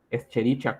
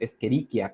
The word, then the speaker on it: Escherichia: CH, pues como Echinocereus, esta que a veces se lee, esta bacteria, Escherichia coli, ¿no? En realidad la pronunciación correcta es Escherichia coli.